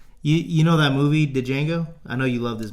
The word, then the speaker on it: Django: you know that movie, Django? I know you love this movie. Django, D is silent.